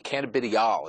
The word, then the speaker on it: cannabidiol: Cannabidiol is how it's pronounced, and it's an extract from the marijuana or industrial hemp plant.